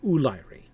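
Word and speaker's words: Úlairi: He puts the accent. I believe he wants me to stress the first syllable, Ulairi. I find that difficult to do. But yes, the Ulairi.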